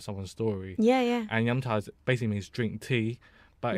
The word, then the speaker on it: 饮茶: And I actually wanted to ask you about your Yumcha podcast.